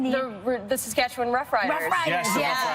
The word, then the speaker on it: Saskatchewan: Saskatchewan. Saskatchewan. I say it like the Muppet song.